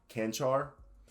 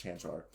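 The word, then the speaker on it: Čančar: Vlatko, I think it's Canchar. Tell me if I said that. Someone told me how to say it, and I said it last time correctly, but I forgot about it. I think it's Chanchar.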